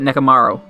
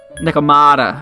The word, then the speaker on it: Nekomata: I could fuse that Nekomaru. Nekomaru? Did I say it right? I forget. Come on, show it. Nekomata. Okay, there we go.